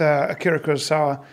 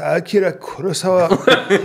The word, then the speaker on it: Akira Kurosawa: Rashomon with Akira Kurosawa. I'm sorry, it's pronounced Akira Kurosawa and Rashomon.